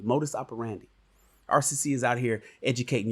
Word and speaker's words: modus operandi: you guys ignore rcc it's not mode of operation it's modis operandi i want you guys to say it properly modus operandi rcc is out here